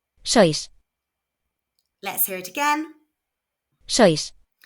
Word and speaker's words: sois: sois, So this is pronounced s, oi, s.